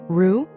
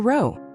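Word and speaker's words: רו: Resh plus vav. Pronounced ru or ro.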